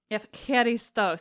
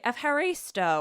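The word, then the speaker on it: ευχαριστώ: Um but the Greek word for thanks is eeristo. See, it's been a while since I've said eeristo. And in you know they'll tell us in English you can say eh haristo or something like that. And I think that's terrible.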